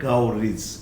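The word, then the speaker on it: coverage: कर लिया क्या, तो उसको भी बोलता है कवरेज, कवरेज, कवर plus is, कवरेज। So these are the words in which we are using age as suffix, and the pronunciation of this age in all these words is not age. Once again, this age in all these words, this age is pronounced as is, as I have written in Hindi also.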